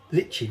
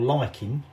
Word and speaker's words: lichen: what it actually is is litching or liking lichen depends how you want to pronounce it always before that to